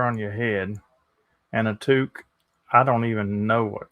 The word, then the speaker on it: toque: It's pronounced toque, though historically it also meant brimless hats for women or chef's tall white hats.